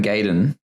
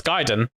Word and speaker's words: Gaiden: Like a Dragon Gaiden. Very odd way to say that word, but sure, okay, I'll let it pass. Isn't that how you say it? No, it's Gaiden.